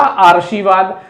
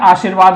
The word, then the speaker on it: आशीर्वाद: तो यह आरसी years अगर यहां चड्ढा होगा तो इसका उच्चारण होगा आरसी बाद जब की शब्द जो है वो आरसी बाद नहीं होता है आशीर्वाद होता है इसलिए ये रेस्ट जो